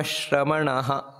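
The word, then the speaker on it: ಶ್ರಮಣಃ: ಆನಂತರ ಎರಡನೆಯ ಸಾಲಿನಲ್ಲಿ ಆಶ್ರಮ ಶ್ರಮಣಹ ನೋಡಿ ಅಲ್ಲಿ ಆಶ್ರಮ ಆ ರೀತಿ ಹೇಳಿ ಶ್ರಮಣಹ ಅಂತ ಅಲ್ಲಿ ಪೂರ್ತಿ ಎರಡು ಸೊನ್ನೆ ಏನಿದೆ ವಿಸರ್ಗ ಅದನ್ನ ಪೂರ್ತಿ ಹೇಳಬೇಕು ಯಾಕಂದ್ರೆ ಅದರ ಪಕ್ಕದಲ್ಲಿ ಕ್ಷಕಾರ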